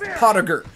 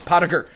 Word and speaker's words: Pottiger: It's pronounced Pottiger. It is Irish. Very, very motherfucking Irish. Pottiger. Get it right. Just let it roll right off your tongue. The T, the E and the I is pronounced as an A, so you get three simple syllables.